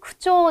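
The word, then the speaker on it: 口調: 자, 그 다음에 18번 코아가라나이 요니 야사시 쿠초 대 쿠초라고 읽는 거 어조죠.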